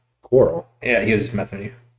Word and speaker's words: Corral: Yeah, it's Matt Corral. Coral.